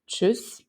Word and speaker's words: tschüss: An example is tschüss, and my Serbian speaking people will recognize the sound ch here.